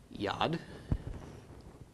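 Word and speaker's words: יד: by a Dalek okay so we pronounce the Y of V owed the short a of the Comets and then the D of the dalit making yad and this week I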